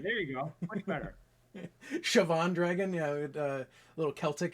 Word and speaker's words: Siobhan: two words, and now you've corrupted me into Siobhan. But I don't know if corrupt is the right word. all right, you've shown me the light of the correct pronunciation. Right, there you go. Much better. Siobhan Dragon, yeah, a little Celtic in there.